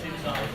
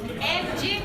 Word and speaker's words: engine: By the way, for the sake of the record, you say engine, not enzyme. Yes. Engine is the right pronunciation in English for the word that sounds like engine. Here. Okay? It's engine. In English, it's engine.